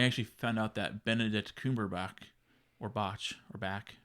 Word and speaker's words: Cumberbatch: And which is funny with that is I actually found out that Benedict Cumberbatch, or Botch, or Back.